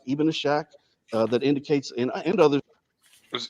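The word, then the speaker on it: إسحاق: So just to let you know, because some people might know, it is SH, but it's not pronounced that way. It's Ishaq.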